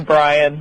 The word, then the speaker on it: Brion: Well, everybody says it differently. It is actually Brian, but Brian.